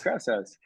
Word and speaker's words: Krause House: Yeah, Krause House. Krause House.